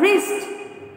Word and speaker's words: wrist: Fourth one, wrist. Which is the silent letter here? W. You want to circle the letter W.